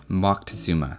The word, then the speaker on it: Moctezuma: So it's entirely possible that that is more authentic, and I get the impression it's preferred in academic circles.